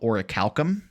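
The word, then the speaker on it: orichalcum: of Atlantis cites this mythical metal that's called oricalum. and orical. Oricicalum, it's spelled o r i c h a l c u m.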